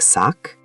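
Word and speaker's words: 삯: It has ks, g, and s. Ks isn't one of the three exceptions, so left side, g. It would sound like sak.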